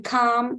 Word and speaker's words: calm: a l m okay whenever you have a l m then it gives R sound as in calm as in Palm as in bomb so R is coming